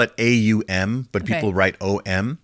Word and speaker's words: Aum: like you really spell it AUM, but Okay.